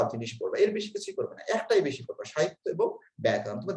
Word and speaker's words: ব্যাকরণ: আর ব্যাকরণ ব্যাকৃজগণ, অনেকে ব্যাকরণ বলে, ব্যাকরণ উচ্চারণ না, ব্যাকরণ। সবাই উচ্চারণ করো ব্যাকরণ। আবার ব্যয় বলে থেমে থাকবে না, তাহলে সমস্যা হবে। ব্যাকরণ, ঠিক আছে, কয়ে কিন্তু আকার নেই, সুতরাং ব্যাকরণ বলা যাবে না।